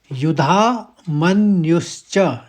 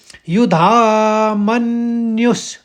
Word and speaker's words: युधामन्यु: युधा मन इसमें दो जगह पर आघात है। एक म के ऊपर एक य के ऊपर और दूसरे शब्द में भी दो जगह पर आघात है।